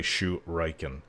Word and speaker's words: shuriken: shuriken it is actually shu reichen it's a japanese word as far as i